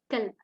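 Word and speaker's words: كلب: So this qalb means heart. Yes, that's right. And the one written in orange means dog, kalb. Okay. The difference is here. This is qaf and this is kaf.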